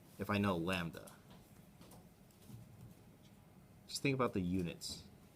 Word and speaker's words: lambda: Oftentimes, lambda, this is pronounced lambda, is the linear mass density.